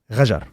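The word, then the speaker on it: Ghajar: Rajar. Yes, with your R and Rajar. But you have it in Hebrew. I don't have it. But it's an R.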